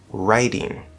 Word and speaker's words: riding: Now the trick in American English is that if you have a D at the start of an unstressed syllable and it is between 2 vowel sounds, then what's going to happen is it's going to become a flapped D.